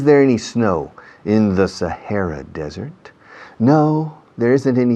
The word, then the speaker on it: Sahara: Sahara, no decimos Sahara, we say Sahara, con H aspirada. Is there any snow in the Sahara Desert?